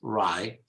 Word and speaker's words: wry: Generally, the initial W is not pronounced, rye, which means interesting, funny, but not really that interesting.